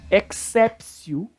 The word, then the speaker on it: exceptio: todos esses casos aqui o te com som de ser tão ex officio no adimpleti contractus pronto ninguém jamais né a pronúncia é exatamente essa não tem para onde